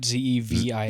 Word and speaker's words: Zevia: How do you pronounce it? Zevia. Zevia.